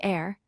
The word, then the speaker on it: heir: The word heir is spelled H-E-I-R, but we say heir, completely dropping the H sound.